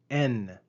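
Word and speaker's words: ἐν: And right after that, we see the preposition en. Compare the verb ain and the preposition en. Notice the long eta, ain, on the verb and the short epsilon, en, on the preposition.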